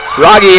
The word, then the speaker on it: Rogge: Marissa Schmidt says they're pronounced Gunther, Rogge, and Eilers. Thank you, so it is Marissa. Rogge.